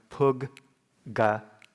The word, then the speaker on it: puggala: Or as in the next one, puggala. Puggala. You can think of it as pronouncing that consonant twice.